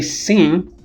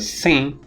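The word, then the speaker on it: sain: phonemic in some languages for example in french if you say se the regular spelling would be this which means i know but if you say sing it is spelled as this and it means healthy se you see the vowel is not nasalized but saying is nasalized then the meaning of the word changes it means that in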